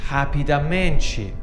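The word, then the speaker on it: rapidamente: the word rapidly becomes happy dementia remember that H sound at the start for the letter R and basically becomes bazi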